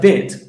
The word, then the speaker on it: bet: Does it have the dagesh mark? And the answer is, yes, it has a dagesh mark. So, in this case, the letter bet would be pronounced with a b sound.